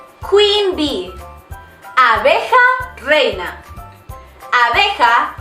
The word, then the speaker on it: reina: Abeja reina. Abeja reina. You need to roll that R. If you want to say the queen bee, it would be la abeja reina.